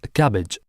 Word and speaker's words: CABG: artery bypass grafting or CABG pronounced as cabbage a surgical procedure in